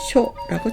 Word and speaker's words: 処: 고처는 쇼라고 짧게 읽으시면 됩니다.